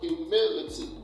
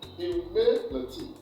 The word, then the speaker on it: humility: only correct option here, when you say the word humility, the mid there, that is a syllable that is stressed, and that is the second syllable.